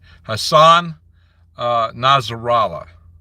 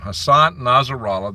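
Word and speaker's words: Hassan Nasrallah: blames the United States Hassan nazera I believe it's the way he pronounces his name Hassan nazera the head of hisbah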